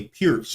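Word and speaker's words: Pirc: Going g6 now goes into a pierce or perk or whatever you want to call it. Basically, it's perk or pierce, pronounced pierce, but it's spelled perk, P-I-R-C.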